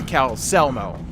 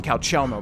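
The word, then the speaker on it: Calcelmo: I thought we had to talk to Cal Selmo. Keep wanting to call him Calchelmo, but I think it's Selmo. That's how Enier pronounced it.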